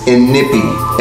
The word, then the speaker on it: Inikpi: figure her name is inipi and it's spelled a little different from how it's pronounced and if he is